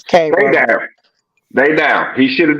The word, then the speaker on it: Cairo: Cairo, however you pronounce it. It's Cairo.